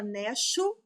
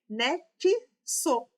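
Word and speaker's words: nexo: Mas observem, a gente não fala necho, neso, nesso, nada disso. A gente fala o quê? Ne sou. Então aqui o X ele tem dois sons, que é o som do K e do S.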